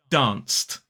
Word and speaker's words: danced: So dance becomes danced.